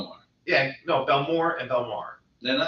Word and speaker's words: Belmar: is different they call they pronounce this Belmar no they don't yeah they do you know yes I do I have been there